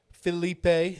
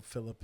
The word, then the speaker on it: Filip: Felipe. Sorry, I said your name wrong. No, Philip is actually the right way to say his name.